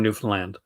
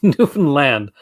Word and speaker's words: Newfoundland: like from from from newfoundland is how they pronounce it if somebody says newfoundland they're not from newfoundland at this newfoundland like that there is antoine there